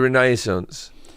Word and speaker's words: Renaissance: a time period oh oh is it the Renaissance well if you're going to say it like